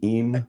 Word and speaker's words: Im: and then you've got Im. Is that how you say it? Im, yeah. and Brown.